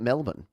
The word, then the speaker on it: Melbourne: to spell melbourne because we pronounce it melvin and when you talk to someone outside of australia they might say melbourne because that's how you spell it really that's how you should say it you know cranborne melbourne